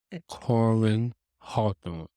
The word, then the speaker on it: Corin Hawthorne: I s- You keep calling this lady Corin Karen. Hawthorne. You gonna get sued for saying the name wrong. I corrected myself that time. Corin Hawthorne.